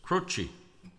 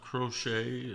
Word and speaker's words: Croce: to an interview and it's an Italian name. And the C is a CH. So it's Crochi, not Crochet like a lot of the radio stations said or Cro or Crochi.